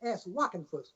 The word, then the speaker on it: Wockenfuss: Or WOCKENFUSS, Wockenfuss. That's the way you spell it. Here's the way you yell it.